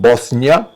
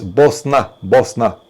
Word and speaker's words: Bosnia: And Wolfgang, just to let you know once again, it's written Bosnia, this is how it's spelled, but when you say it, especially when you're there, it's Bosna.